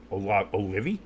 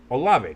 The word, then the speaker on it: Olave: Olivie? Did you just say Olivie? How do you say his name? Olave. Chris Olave. Olave.